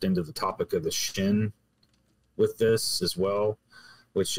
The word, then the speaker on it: Shin: the way it's written, if it's accented on the right, it's a Shin. But then if the accent's on the left, it's pronounced Sin without the H.